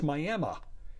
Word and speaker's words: Miami: county seat of tiny Roberts County Texas is pronounced Miami it would also be fair to pronounce it